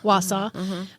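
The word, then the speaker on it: Wausau: Wausa.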